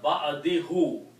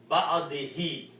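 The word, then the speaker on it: بَعْدِهِۦ: Now, for the rule of tajweed, when there is a pronoun like this, then we also pronounce this who as he.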